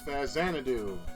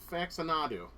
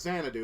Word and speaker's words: Xanadu: shall we ah yes Xanadu very awesome you know what's funny I used to pronounce this game facts and faxonado you know because I